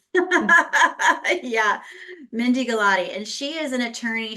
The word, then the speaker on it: Gulati: wrong could you please tell us the correct pronunciation of your last name yes last name is Gatti thank you because I was I was gonna definitely get that g wrong yeah Mindy galotti and she is an attorney she was a